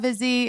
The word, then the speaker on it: Vizzy: We look forward to talking about Vizzy Hard Seltzer here on Busy Phillips is Doing Her Best because, number one, Vizzy rhymes with busy.